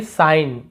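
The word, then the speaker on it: sign: यहाँ पर भी साइन यानी होता है संकेत, यहाँ पर सिग्न नहीं पढ़ेंगे, साइन ऐसे पढ़ते हैं, साइन, संकेत।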